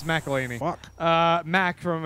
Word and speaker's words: McElhenney: It's McElhaney.